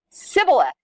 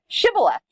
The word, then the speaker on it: Shibboleth: According to Scripture, they said Sibboleth instead of Shibboleth.